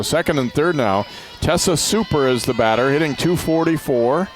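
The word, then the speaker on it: Cuper: I was wondering if it was Cooper. I thought, well, she wouldn't want to have that name today, even if it was, that's how you say it, but no, it's Super.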